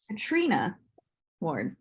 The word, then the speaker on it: Katrina Ward: award is great or Katrina Ward actually I think it's not our name is pronounced right yeah emphasis on the tree I've learned Katrina Ward it's great um Kim